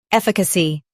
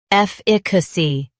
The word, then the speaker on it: efficacy: In US, stress EF. In UK, IH. Efficacy. Efficacy.